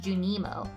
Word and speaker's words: Junimo: It's pronounced Junimo.